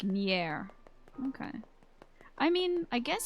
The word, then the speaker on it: NieR: you're not sure how to put it over text, but if you take the A out of helicopter, it'd be like NieR.